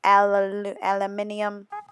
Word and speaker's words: aluminium: the front lots of aluminium aluminium that's how they say it in Britain aluminium foil I struggle